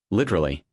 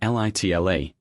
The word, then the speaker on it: literally: Literally. In British English it's literally, 4 syllables. In American English, the middle sounds are reduced, literally, often even litle.